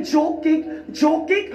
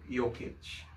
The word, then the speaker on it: Jokic: Oo, yun ay joke kick! Kung nuggets mo tanga! At sabi si Jokic, joke kick. Nuggets. Yun nga yung sentro ng Nuggets. Nikola Jokic. Jokic yung ginawa niyong pagbigkas.